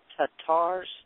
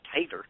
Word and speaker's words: Tatar: I read an article about the Tatars, T-A-T-A-R, Tatar. Tartars, yeah. Yeah, I knew I'd say it wrong because I want to say tater because I'm Southern.